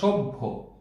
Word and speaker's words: সভ্য: যেমন সভ্য, সভ্য বানান যদি আমি লিখি তাহলে এটিকে যদি আমি বিশ্লেষণ করি, আগে ব আসবে উচ্চারণে, তারপরে ভ আসবে।